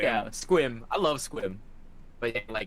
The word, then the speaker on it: Sequim: Probably Squim. Squim? Yeah, That's not real. Yeah, that's it's literally real. what I said. That sounds like what you call a fake rubber bullet. Squim. Yeah, Squim.